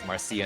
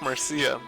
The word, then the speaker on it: Marcia: that is annoyed at your crossing Marcie as Marcie instead of Marcia what are you talking about this isn't Japan actually it's pronounced Marcia that's true this is a good time